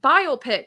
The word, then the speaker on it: biopic: like that yeah no that you're right biopic that that is what it you just said it the right way by no I say